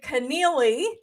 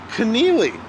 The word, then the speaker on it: Connealy: just check out our author Mary Connealy and check out which rhymes with what?